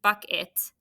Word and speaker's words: bucket: there's buck now it what do we put here because it sounds like it should be an i buck it but it's not it's unexpected right that's where that